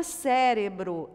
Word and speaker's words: cérebro: Depois, palavrinha cérebro é uma palavrinha proparoxítona. Então, ela vai levar o acento nesta sílaba, cérebro.